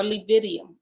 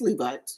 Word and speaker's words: Levites: Then the tabernacle, capital T, of the assembly shall set forth with the camp of the Levites, or Levidium. I don't know how to say them. That's Levites. Okay, Levites.